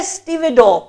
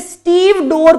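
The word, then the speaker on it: stevedore: Pronunciation ज्यादातर बच्चे इसे स्टीव डोर पढ़ते हैं। पहले देख लीजिए, आपको भी वो स्टीव डोर लगेगा, बट वो स्टीव डोर नहीं है, वो स्टीवेडोर है।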